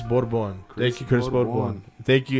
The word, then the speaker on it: Borbon: what's up what's up how do you say your last name it's uh originally it's borbon so chris bourbon thank you chris thank